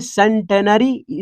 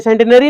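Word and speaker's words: bicentenary: और यहां लिखा है सेंटेनरी, सेंचुरी से बना है, सेंचुरी कब होता है, जब 100 रन बनाते हैं, और बाय लिखा है मतलब 2 सेंचुरी हो गया, सेंटेनरी, इसको पढ़ते हैं सेंटेनरी नहीं, सेंटेनारी, स्पेलिंग नहीं भूलेंगे या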